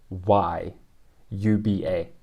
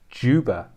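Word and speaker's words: Dzyuba: bear in mind okay it's felt d zed y u b a right this is yuba it's actually autumn juba spelt j-o-o-b-a autumn juba yeah listen tell you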